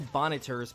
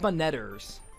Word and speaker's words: Bonneters: There are little bonneters possessing the birds. Or is it bonnetters? Because, the word bonnet is pronounced bonnet, and therefore bonnetters. I'll pronounce it like bonneters, thank you very much.